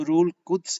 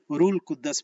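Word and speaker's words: روح القدس: जब हम रूल कुद्स को रूल कुद्दस पढ़ते हैं, और रूल कुद्दस जो है ये गलत प्रोनाउंसिएशन है, तो इसलिए हमें कंफ्यूजन होती है।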